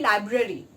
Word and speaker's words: library: Okay, similarly library. Okay, library should be pronounced as library, not library.